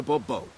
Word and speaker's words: Bourbeau: I expect you to address me as Sir, or better yet, as Monsieur de Bourbeau. Fine, Monsieur de Bourbeau. The emphasis falls on the last syllable.